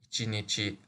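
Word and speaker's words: 一日: The pronunciation for day is easier to remember when it refers to one day, or ichinichi.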